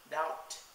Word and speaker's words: doubt: be pronounced in English thus for example be in De doubt subtle C in Indi virtues s in L A Island Etc since there are